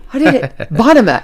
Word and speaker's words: Bonema: Bonema? Bonema, yes. Did I say it right? Yes, you did. I did it. Bonema.